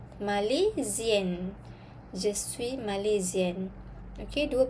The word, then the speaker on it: Malaisienne: Tapi kalau untuk perempuan, spelling dia kena tambah N satu lagi, lepas tu letak I pula. Okay, pronunciation dia pun akan berubah. Okay, kita sebut je suis Malaisienne.